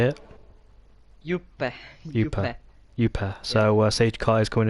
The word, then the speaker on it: Juppe: Actually in Finland they say the name differently, but I have been comfortable with that name, how they say it.